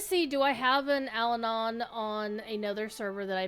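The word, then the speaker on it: Allanon: Uh, and Alanon and that is the correct pronunciation.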